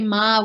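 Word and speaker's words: མར: Genla has just said that we can consider that every time you see the word butter, ma, by itself, then you will really hear Tibetan say ma with the lengthening of the vowel.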